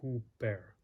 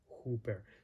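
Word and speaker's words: ὑπέρ: rough breathing mark and that's just going to have an h sound that almost carries the comes over the top of the vowel sound here and so you have hooper hooper the the the u sound is still there but what's mostly emphasizes that that h sound uh and then with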